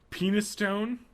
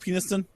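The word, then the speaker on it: Penistone: Penis Stone. I've heard of that one before. Isn't it pronounced Peniston? Yeah, it's probably pronounced that.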